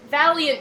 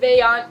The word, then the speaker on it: Vaillant: Yes, those are the, I keep wanting to say Valiant gouramis, but I think they're more like Vaillant gourami is the way it's spelled.